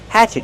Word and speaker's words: hatchet: Use the open a sound like black cat. Hatch. Hatchet. The stress is on the first syllable. And what about the letter T at the end? Use a stop T. Stop the air.